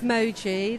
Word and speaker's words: Moji: with okay if they email me my name's Moji that's spelled oji if you put press at roler Derby lester.